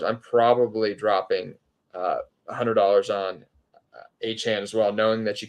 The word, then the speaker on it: Achane: Steve Campbell from Twitter asked, or De'Von Achane, I'm sorry. Correct myself. We had a corrective from Achane himself who said that's what he prefers, the pronunciation of it. So De'Von Achane and Raheem Mostert are available in my league.